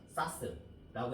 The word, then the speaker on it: SAS: 사스라고 읽으면 되고, 그래서 이렇게 외우세요.